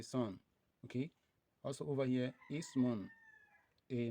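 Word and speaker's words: اسم: the ibnun, so we have it to be pronounced as this: wabenun, wabenun, ibnun, ibnun, wabenun, wabenun. Okay, another one is also ismun, just as we have it here.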